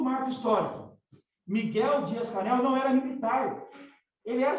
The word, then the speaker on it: Díaz-Canel: professor universitário Miguel Díaz-Canel, ou como se fala em espanhol, né, Miguel Díaz-Canel, certo?